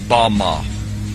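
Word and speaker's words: במה: The Hebrew word used in this text for the heights from which Satan fell is Strong's Hebrew word 1116 pronounced Bama.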